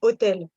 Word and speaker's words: hôtel: Et oui, par exemple, c'est pareil pour hôtel. Hôtel, en français, s'écrit H-O-T-E-L, comme hôtel en anglais. Mais on va dire c'est l'hôtel et non pas c'est le hôtel.